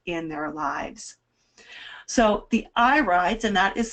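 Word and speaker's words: irides: their health and in their lives so the eye rides and that is spelled i-r-i-d-e-s is the correct plural when we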